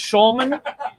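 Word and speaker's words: Hjulmand: I don't know with the HJ, but I think it's Schulman.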